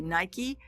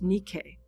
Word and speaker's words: Nike: the Temple of Nike, or you would say Nike, but actually it's pronounced Nike.